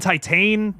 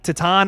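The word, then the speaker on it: Titane: raw yeah raw and Titan tatan I've heard it pronounced both ways that oh so good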